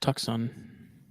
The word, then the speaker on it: Tucson: So It's pronounced it's pronounced Tucson. Just so you know. Tucson, Arizona.